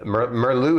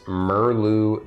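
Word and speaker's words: Murlu: who knows under the armor right uh uh merlu is the only one where you can actually see his face uh sorry I jumped ahead sir Angelo brightblade um and then the uh the furbogue is merlu the stalwart the stalwart merlu is m-u-r-l-u and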